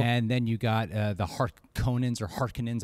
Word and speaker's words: Harkonnen: And then you got the Harkonnens. I hear two different pronunciations. Right, G. What is it? Is it Harkonnens? I think Harkonnen is what people agree upon.